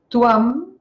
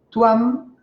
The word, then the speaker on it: tvam: Tuam, la B corta se pronuncia U, tuam, tú, como en castellano.